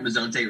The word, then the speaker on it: Mezonte: do you spell that? Mezonte, is it M?